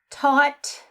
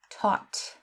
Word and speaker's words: taught: Okay, so taught, again with this A-U-G-H-T, it's an ought sound, taught, the short O. And the same with thought, O-U-G-H-T, it makes an ought sound, thought.